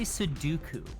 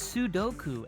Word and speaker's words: Sudoku: Why do you say Sudoku? Because isn't that how it's pronounced? Is it No. Is it Sudoku? It's Sudoku.